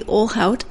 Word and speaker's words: Ohlhaut: Do not pronounce it like you're trying to learn Portuguese. Marty Ohlhaut and his daughter Grace Lai. Let me explain the Portuguese comment. The LH sound in Portuguese is a lia sound, and that's not correct.